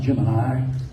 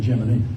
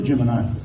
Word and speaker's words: Gemini: the way gim I said Jim it's actually pronounced Gemini correctly and NASA tried to make everybody pronounce it gimini for a long time and then gave up and started saying geminy but it really Gemini so anyway he buzzed this so but he